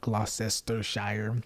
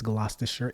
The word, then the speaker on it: Gloucestershire: I think that's how you pronounce it. Now, it's not Gloucestershire. I think it's Gloucestershire, England. And of course, we now